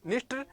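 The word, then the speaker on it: Dniester: इनमें नया नया आता है तो इनके पहले डी लगता है, इसमें प्रोनाउंसिएशन है वो, इसका ये डी है वो साइलेंट हो जाता है।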